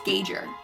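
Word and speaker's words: Geiger: guide your counter i i have been saying it wrong my entire life and no one has ever told me that it was the wrong pronunciation so i blame them okay so i think i said guide your counter and it's gager how is it gauge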